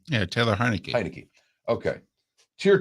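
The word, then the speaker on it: Heinicke: Heineke.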